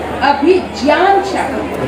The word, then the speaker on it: अभिज्ञान शाकुंतलम: दोस्तों, अभिज्ञान शाकुंतलम, इसका सही उच्चारण है अभिज्ञान शाकुंतलम। अभिज्ञान क्या बनता है ज्ञा, और संस्कृत में जब हम प्रोनाउंस करते हैं तो अभिज्ञान शाकुंतलम।